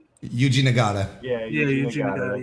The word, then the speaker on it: Yuji Nagata: UC Not Nada. Yuji Nagata.